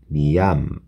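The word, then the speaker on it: ミャンマー: 미얀마아, 그죠? 장음이죠.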